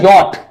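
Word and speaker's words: yacht: और ये है यॉट, ये CH साइलेंट, मतलब कोई मतलब ही नहीं है।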